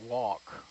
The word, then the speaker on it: Walke: and so they asked, how do you pronounce the name? And according to Libby Jones, thank you, Libby, the correct pronunciation is Walke.